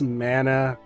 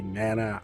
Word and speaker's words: Mana: I know it's Mana, how they say it in the English localization, they say Mana. I've always said Mana. I'm also Polynesian, Hawaiian, Samoan, Tongan, so we say Mana, right? You know, essence, life.